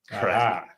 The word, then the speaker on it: craic: And so when I looked it up to reestablish the definition for myself, it spelled it out phonetically. Like, this is how you say CRAIC, KRAK. Crack.